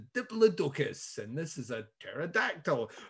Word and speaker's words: pterodactyl: And they're like, this is a triceratops, and this is a diplodocus, and this is a pterodactyl. It's spelt with a silent P, though.